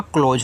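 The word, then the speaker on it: close: एस से आपको यहां पे ज बनाना है। इ का उच्चारण कहना नहीं है। तो ये आपका क्लोज हो गया।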